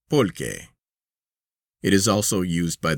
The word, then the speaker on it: pulque: From this century plant, or cacti, The Mexicans make their beer, which they call pulque, pronounced polque.